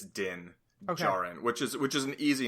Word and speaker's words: Din Djarin: I think is it Jin or is it Din Djarin? It may be Din Djarin because it's spelled D-I-N, so I think it's Din Djarin, which is an easy name to then mess up or kind of.